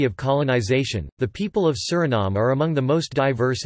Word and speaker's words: Suriname: In Dutch, the official language of Suriname, the pronunciation is Suriname, with the main stress on the third syllable and a schwa terminal vowel.